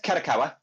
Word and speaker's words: Kadokawa: So it said Kadokawa.